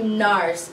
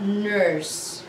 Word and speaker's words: nars: use the spelling but when we pronounce it then we say NARS not nurse okay so this one